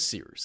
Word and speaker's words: Cyrus: Anyway, my name is Seerus. It's spelled like Cyrus, pronounced like Sea Rooster, just take out the terror.